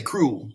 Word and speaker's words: cruel: vowel vowel consonant cruel we don't we usually say cruel one concept that's cruel it's actually two syllables cruel and it divides